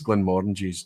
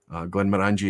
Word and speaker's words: Glenmorangie: Glenmorangie is not the correct pronunciation because it's Glen is valley, Mor is large, and apparently the whole thing together, Angie at the end, is Glen of Tranquility, famously from the adverts.